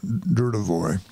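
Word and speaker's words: Dudevoix: It's spelled D-U-D-E-V-O-I-X. I think it's D-U-R, Dudevoy.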